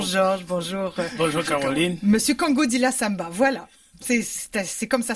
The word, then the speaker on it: Kongodila: Monsieur Kongodila Samba, voilà. C'est comme ça se prononce.